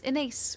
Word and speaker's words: Inace: Uh, if I am a new face to anyone who has come, hello, my name is Inace, rhymes with face.